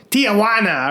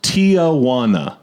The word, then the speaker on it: Tijuana: I always thought it was Tijuana. Right. 4 syllables.